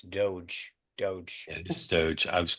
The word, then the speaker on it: DOGE: you appreciate it um okay uh apparently I'm pronouncing Dodge wrong it's Doge doge is Doge I was gonna let let